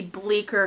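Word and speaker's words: Bleecker: number five is the bleer collection let me tell you how this is spelled cuz I didn't realize there's a c in it it's b e c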